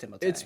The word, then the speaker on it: Timothée: I know people say Timothy Chalamet, but he pronounces it Timothée. It actually, I think it is properly pronounced Timothée.